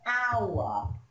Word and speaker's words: hour: In this case, you must not pronounce the H. Okay, for example, an hour.